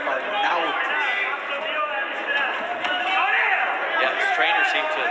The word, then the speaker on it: Arnaoutis: And that is the pronunciation, by the way. We did check with Mighty Mike today. Because the announcers seem to have a big problem with his name. We hear Arnaoutis, Arnaoutis, Arnaoutis. It's Arnaoutis.